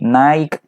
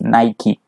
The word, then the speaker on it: Nike: Nike by the way Naik negative point in English pronunciation is not nice pronunciation its Nike so repeat Nike Nike